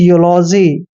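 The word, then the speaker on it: eulogy: एल ओ जी वाई देखिए ई यू का उच्चारण यहां पर हम य और उ की मात्रा करेंगे यानी कि यूलॉजी ठीक है ना यूलॉजी ई के बाद जब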